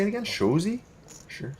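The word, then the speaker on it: Shoresy: Shozy? Sure. Shorzy, so Shore.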